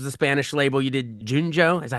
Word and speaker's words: Junjo: first couple albums the Spanish label you did Junjo is that how you pronounce it yes um and then the US